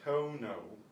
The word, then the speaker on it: tono: Vowels are short and pure. It's not tono, it's tono, tono.